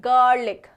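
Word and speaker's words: garlic: English में क्या बोलेंगे गार्लिक गार्लिक ठीक है ये जो र है ना वो पूरा नहीं आएगा आधा आधा खा जाना है ठीक है तो इसे हम क्या प्रोनाउंस करेंगे गार्लिक गार्लिक ठीक है चलो नेक्स्ट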